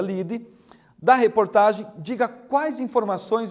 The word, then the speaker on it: lead: título se chama ligue se escreve lead mas se pronuncia lide da reportagem diga quais